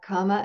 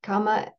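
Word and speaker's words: kāma: part of that is not comma as in karma k a m ma a it's comma with a long a an accent over the first a and there's only one m so it's a different sound similar but I just wanted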